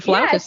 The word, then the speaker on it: flautist: Is that how you say it? Flautist? Mm-hmm. Well, Flautist? That is correct. It's a flautist.